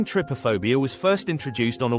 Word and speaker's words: Trypophobia: Trypophobia pronounced Trypophobia is an irrational aversion or repulsion to the